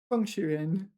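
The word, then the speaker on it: 创始人: 创始人, fourth tone. Now we know it's fourth tone because it pertains to creativity.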